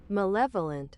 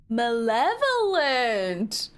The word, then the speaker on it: malevolent: M What does Google say? Malevolent. Malevolent. Malevolent. like Maleficent. Interesting.